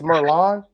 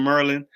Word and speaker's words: Merlon: It's Merlon. Merlon, that's it. Oh, I'm embarrassed. Oh, it's okay, Jay. Man, I've gotten worse than Merlin.